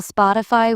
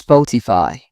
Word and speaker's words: Spotify: People often call Spotify with stress on the fi. It's Spotify.